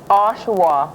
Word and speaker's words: Oshawa: Oshawa.